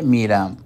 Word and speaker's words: میرم: تو میروم سے گفتاری شکل میں کیا بنتا ہے، من به مدرسه میرم. اور دری میں ما به مکتب میرم.